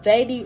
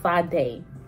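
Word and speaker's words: Sadé: ] like most parents but my name is pronounced side day i have a apostrophe behind my e and my e turns to the ace of side um sundays for the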